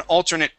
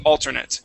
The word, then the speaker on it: alternate: alternate part or an alternate player on a team it would be nit alternate instead of alternate okay yeah it's different the pronunciation it's a noun or